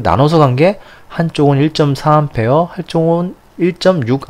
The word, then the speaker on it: 암페어: 전리 기운은 아이고 다니는 a 라고 쓰구요 암페어 라고 읽으셔야 됩니다 꼭 단위를 이렇게 기호를 읽으시는 분이 계시는데 당연히 읽는 법이 있습니다 그래서 a 로 읽으시면 안되요 암표 알고 오셔야 된다는거